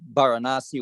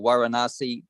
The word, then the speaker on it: Varanasi: across to, say, like Varanasi or Varanasi, depending how you say it, where that was very close to Magadha, and I believe it's actually part of Magadha.